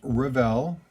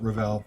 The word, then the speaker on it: Revell: model which is from revell i pronounce it revel i i have people pronounce it different ways but i go with revel always have originally put out by